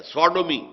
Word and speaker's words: Sodom: منسوب کیا گیا ہے، سوڈومی، سودوم۔ سودوم وہ شہر تھا، صدوم جس کو ہم کہتے ہیں، سوڈوم، SODOM، یہ بائبل میں اس کا تلفظ ہے، تو اس سے یہ